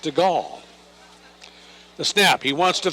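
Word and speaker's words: Stegall: He gives it to Keenan Stigle, a 6-1, 180lb senior, spelled S T E G A L L, pronounced Stagall.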